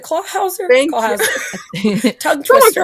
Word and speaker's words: Clawhauser: Got the Clauser. I always say his name wrong. Is it Clawhauser?